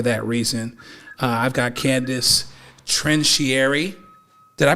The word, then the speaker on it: Trincieri: I've got Candace Trincieri. Did I pronounce it the right way? How am I supposed to pronounce it? It's Trincieri. Trincieri.